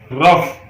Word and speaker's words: rough: The letter combination OUGH is pronounced in at least 9 different ways. मतलब OUGH को 9 तरह से प्रोनाउंस किया जाता है. मसलन सबसे पहले ROUGH रफ, ROUGH रफ, PLOUGH प्लाउ, PLOUGH प्लाउ, THROUGH throw, true.